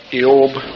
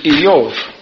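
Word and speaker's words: איוב: so it ended up Eob, which is Job. But actually, his name is Eov, no J on it, for you Hebrew students, Eov, which in English would be long E, Y-O-B, but pronounced V.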